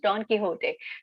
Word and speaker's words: Don Quixote: a novel don quixote that's how it is pronounced don quixote so there's a novel on don quixote and it has been said it has it's